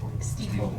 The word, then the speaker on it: Stiefel: How do you pronounce it? Stiefel or Stiefel? Stiefel.